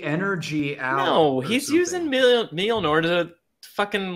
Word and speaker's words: Mjolnir: No, he's using Mjolnir to fucking like you know, do the shit that he did in the Ultimates where he's like, oh, there's a bomb.